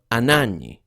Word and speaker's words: Anagni: His death occurred in the city of Anagni on the 1st of September.